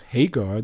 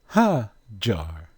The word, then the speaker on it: Hajar: From our cousins, the Saudis, that they pronounced Hagar not with a strong G sound, but with a soft G sound. Instead of Hagar, they say Hajar.